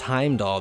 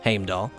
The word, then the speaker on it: Heimdall: Heimdall is actually not pronounced as it is in the Marvel Cinematic Universe, it's Heimdall there, but here, the katakana is Heimdaru, and that's Heimdall.